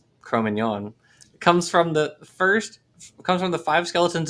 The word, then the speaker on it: Cro-Magnon: pronunciation is in fact Cro-Magnon.